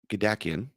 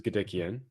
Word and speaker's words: Gadikian: I pronounce his Gadikian. Oh, I was close. I actually thought I was getting it right.